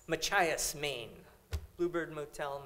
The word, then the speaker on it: Machias: one's a bluebird motel how do I pronounce this again just ma CH is Machias Maine Bluebird Motel Machias Maine this is fiction